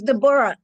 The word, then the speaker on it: Deborah: It's Deborah. Deborah, Awesome. Deborah. Yeah, some good stuff. Yes. It's my middle name, so I pronounce it the way the Jewish people do. They Okay. pronounce it Deborah.